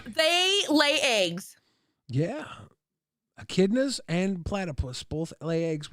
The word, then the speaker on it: echidnas: Echidnas.